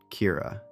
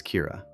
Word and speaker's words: Kira: And they gave this mysterious force a name, Kira. It came from the Japanese way of pronouncing the English word killer.